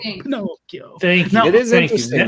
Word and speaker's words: Pinocchio: So you kind of, I mean, we mentioned Pinocchio earlier on the show.